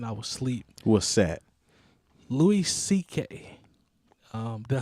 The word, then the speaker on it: Louis C.K.: Louis C.K.